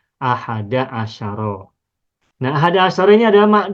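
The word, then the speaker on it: أحد عشر: ahad asyaro ini mabni tidak boleh ahadu tidak boleh Ahadi Asaro tetap tidak boleh asaru tidak boleh Asari dan juga tidak boleh bertanwin tidak boleh menjadi ahadu asarin tak boleh sehingga cukup bacanya satu saja satu macam yakni Ahada asyaro nah Ahada Asaro ini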